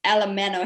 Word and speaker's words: Elemento Health: name of your company it's elemento health that's right elemental like the alphabet to keep it simple there you go right